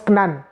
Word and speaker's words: Canaan: de la promesse à Canaan, comme on le dit, mais les Hébreux prononcent Aknan, ils prononcent Knan.